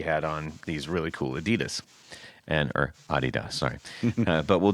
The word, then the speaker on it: Adidas: I said, "You know, we actually called them the wrong thing," and she was like, "What are you talking about?" I said, they're supposed to be called Adidas. She said, "Why would they be called Adidas?" I said, "Well, because the guy who created them is named Adi Dassler. So that's why they're called Adidas. But we don't call them that over here.